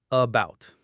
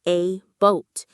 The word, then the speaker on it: about: it, you might say a boat. You're giving that first letter A its full, beautiful A sound. But no American speaker says that. The stress in the word about is on the second part, about.